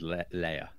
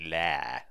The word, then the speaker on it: lair: like layer and yes it should really rhyme with hair shouldn't it it should be lair but then you sound